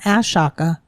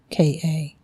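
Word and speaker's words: Ahsoka: It's not Ashaka. It's Ashoka. Well, somebody hasn't watched that TV series, so Have you? I have. Oh. So, haha. But it's Osaka.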